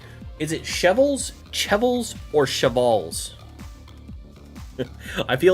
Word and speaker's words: cheval: In French, you wouldn't pronounce the S. So just cheval.